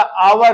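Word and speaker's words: hour: हावर है इसको शुद्ध प्रोनंसिएशन इसका आवर होगा और आवर का पहला लेटर आ है आ जो है वावेल है इसलिए इसके पहले हम एन का प्रयोग करेंगे अगर कोई विद्यार्थी ये सोचे एच लगा है कंसोनेंट है सर जी यहां पर ए लगाइए व पूर्णता गलत है क्योंकि मैं पहले ही बता दिया कि स्पेलिंग प ना मूल्यांकन करके उसके उच्चारण प मूल्यांकन करेंगे आई हैव एन आवर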